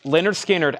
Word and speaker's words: Lynyrd Skynyrd: okay we have Lynyrd Skynyrd pronounced Lynyrd Skynyrd analog Productions 2lp 45 RPM 69.99 Lynyrd Skynyrd pronounced Lynyrd Skynyrd 69 99.